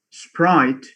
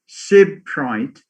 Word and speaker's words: sprite: that's an error so instead of saying sprite if somebody says sybrite that's an error it shows that you are one is having a foreign accent separate for sprite now